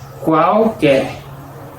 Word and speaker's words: qualquer: En la misma palabra, la sílaba QU y con una vocal con sonidos diferentes. Qual con la letra Q y la letra U con sonido de CU, qual, pero todo junto, qual.